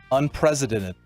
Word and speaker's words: unprecedented: Unprecedented. Stop. You're saying the S. You got to say it as a C. Like your Z. It's got 5 syllables.